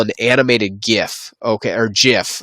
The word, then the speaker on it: GIF: animated gif okay or jiff is actually the correct pronunciation people call it both but this is an